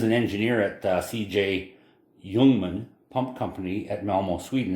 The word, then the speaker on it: Ljungman: engineer at the cj jungman pump company at melmo sweden and you'll often hear these referred to as young ones spelt l-j-u-n-g-m-a-n pronounced youngman and so that company